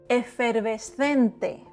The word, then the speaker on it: efervescente: Dry consonants and open vowels that don't change. It is te and not te. Effervescente. Vowels don't change. Consonants are dry. Efervescente. Efervescente means effervescent. Estas pastillas son efervescentes.